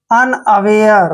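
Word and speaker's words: unaware: डब्ल्यू ए आर ई, देखिए यू एन जब भी इकट्ठा आता है तो इसका उच्चारण हम करते हैं अन, ठीक है, अन। और देखिए यहाँ पे ए का उच्चारण ए करेंगे और डब्ल्यू ए को वे पढ़ेंगे ऐसे, और आर ई जब भी आता है तो इसको यर पढ़ते हैं। अनअवेयर, देखिए अनअवेयर, अनअवेयर मीन्स क्या होता है?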